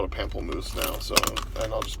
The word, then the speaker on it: pamplemousse: The flavor is called pamplemousse. Pamplemousse, I think is how you say it. It's French for grapefruit.